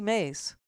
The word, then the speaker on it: Mace: Nancy Mace, rhymes with Grace, just as backcrap, is